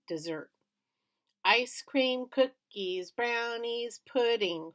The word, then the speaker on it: Desert: on an island called Mount Desert but she pronounced it dessert ice cream cookies brownies